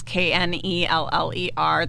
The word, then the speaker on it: Kneller: So that's Kneller. The K is silent.